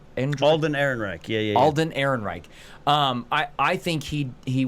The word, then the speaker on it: Ehrenreich: name Alan Alden and Alden Ehrenreich yeah Alden Ehrenreich I I think he he was fantastic I really I have been burned at the stake for this I think Alden Ehrenreich was a better Han Solo than Harrison Ford